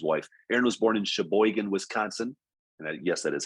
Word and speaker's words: Sheboygan: this is his wife aaron was born in sheboygan wisconsin and yes that is how you pronounce it by the way but after earning